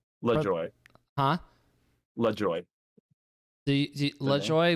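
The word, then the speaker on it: Le Joi: joy huh le joy le joy with j-o-y at the end j-o-i but yeah the same like pronunciation right right i didn't want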